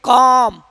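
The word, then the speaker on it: calm: कॉम कॉफ वाक हफ पम would could. देखिए एल क्या है सब में?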